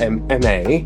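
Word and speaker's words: Aimee: with my new friend, M.A. Yes. M.A., exactly. And beautiful. Spell it for us again. A-I-M-E-E. And you said it's French, like Yes. French. I love that.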